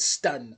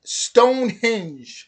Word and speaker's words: Stonehenge: I said stun. Stonehenge. Stonehenge. But yeah, like I said in the last video, I would love to go there like around the summer solstice.